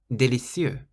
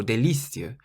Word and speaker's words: délicieux: We've had délicieux, délicieux, which means delicious. You don't say délicieux or délicieux like we say delicious. You say délicieux, so you stress the cieux on the end.